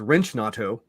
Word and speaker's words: Wrench Nato: the correct pronunciation is Wrench Nato.